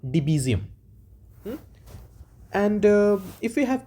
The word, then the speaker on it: Debezium: uh another system design concept which is called deum it's spelled as D EB e z i u m okay so it's called deum and uh if we have to see on